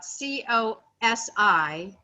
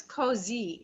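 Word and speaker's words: così: see the word uh c-o-s-i there's a rule that between two vowels that s is pronounced like a z so it's cozy instead of cosi and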